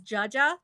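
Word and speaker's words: dziadzia: they're spelled no because my grandfather is Jaja so you would think that would be like Jay something no it's d-z-i-a-d-z-i-a so and I'm very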